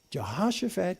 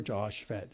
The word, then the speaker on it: Jehoshaphat: If you've got some Bible software, Jehoshaphat. It's just like it's spelled.